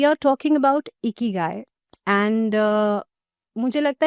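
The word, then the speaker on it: 生き甲斐: गाय हम स्टार्टिंग करते हैं बेसिक से the pronunciation of the word इकी गाय या इट्स इकी गाय सो ये जो चीक्स है वो ऊपर हो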